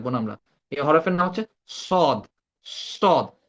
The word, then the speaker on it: ص: এটা আমরা সা বলবো না, সা বললে ওই সিনের সাথে মিলে যাবে। তো আমরা এটাকে বলবো কি স, স সি সু, স সি সু।